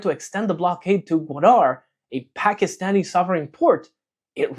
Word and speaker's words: Gwadar: Gwadar port. Uh note that McGregor struggles with the pronunciation in the video.